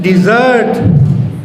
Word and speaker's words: desert: Don't desert me in a desert. In a desert. This is desert. E. Desert. Desert. In a desert. Here stress is on the first syllable.